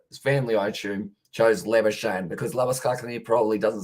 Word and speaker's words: Labuschagne: So pretty much the original pronunciation of Marnus Labuschagne's last name is Labuschagne, which is pretty much the South African Afrikaan way of saying it. But it's actually Labuschagne.